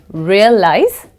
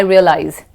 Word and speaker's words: realize: One thing to note that SE is pronounced as ZE. I realize. It's not realize, it's I realize.